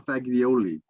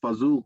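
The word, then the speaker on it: fagioli: to say this word they would pronounce it pasta faglioli because they would they wouldn't be able to pronounce fazool correctly I take it you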